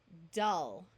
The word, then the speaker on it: dull: sound of f thankfully here are some words that use the short u sound even though they look like they would rhyme with pull and full dull skull Hull dully so